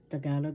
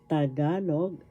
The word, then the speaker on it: Tagalog: Tagalog language learning lesson tagalog balila is our lesson today. Tagalog that's tagalog that's the correct pronunciation first syllable ta second syllable ga third syllable log tagalog the accent is in the second syllable tagalog balarila baralarila in